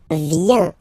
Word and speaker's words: vient: Okay, then il, elle, vient. Final T not pronounced.